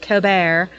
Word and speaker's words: Colbert: And then Stephen, I call him Colbert, even though people pronounce it Colbert. But actually, in my area, they call this last name Colbert.